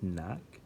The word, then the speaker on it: knock: all know this word silent K in the beginning of knock so that's worth taking